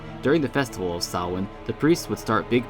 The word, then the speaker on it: Samhain: but keep in mind this is a gaelic word by origins so it uses a gaelic pronunciation during the festival of saowin the priests would start